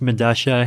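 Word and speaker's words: Medellín: I believe it's pronounced Medasha. It's a South American subway station. I forget where. But spelled with two L's. Yeah, because that's how Spanish works, right?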